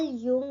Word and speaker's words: Jung: follow करते हैं काल युंग ने देखो यहां पे स्पेलिंग में जे है लेकिन जे नहीं बोलना है ठीक है यू से बोलना है युंग काल युंग ने